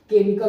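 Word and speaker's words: chemical: है जब किसी वर्ड के शुरू में सीच के बाद ई आए और ई के बाद एम आए तो सीच को को से पढ़ते है जैसे केमिकल हो गया ठीक है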